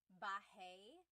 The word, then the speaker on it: bahay: You might notice that the spelling is A-Y at the end, so it looks like bahay, but it's pronounced bahay. That A-Y combination is bahay.